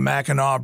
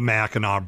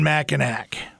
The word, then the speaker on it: Mackinac Bridge: They should definitely pronounce it the Mackinac Bridge, because that's how you pronounce it. It's definitely the Mackinac Bridge. Not Mackinac. Not Mackinac. It's the Mackinac Bridge connecting the two peninsulas.